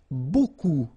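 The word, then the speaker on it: beaucoup: you want to use Buu Buu means a lot of it look it looks a bit strange B like that remember you don't pronounce the final P okay and then you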